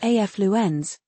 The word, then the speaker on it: affluence: It's pronounced afu ends with stress on the first syllable.